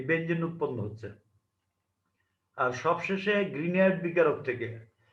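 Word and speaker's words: Grignard: উৎপন্ন হচ্ছে আর সবশেষে গ্রিনয়ার্ড বিকারক থেকে যদিও এখানে গ্রিগনার্ড বিকারক লেখা হয়েছে আসলে উনার নাম হচ্ছে উচ্চারণ হচ্ছে গ্রিনিয়ার্ড ভিক্টর গ্রিনয়ার্ড হচ্ছে এই বিকারকের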